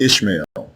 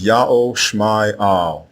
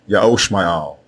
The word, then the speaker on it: Ishmael: The correct way to say the name of Abram's firstborn son is not Ishmael. It is Ya'o Shma'al. Ya'o Shma'al.